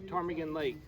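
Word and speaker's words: Ptarmigan Lake: is tarmagen lake and it's spelled p t a r m i g a n tarmigan lake so if you go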